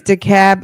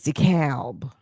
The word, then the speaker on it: DeKalb: I know in New York, it's DeKalb. Okay. It's DeKalb. That L comes out a little bit. I know in Georgia, it's DeKalb. In Illinois, I don't know how they say it.